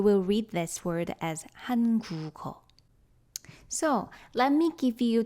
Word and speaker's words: 한국어: But we are not going to read it as 한국어, which means Korean language. We would read it 한국어. That's what's happening in actual pronunciation. So this 기역 moves to the zero consonant position in the following syllable.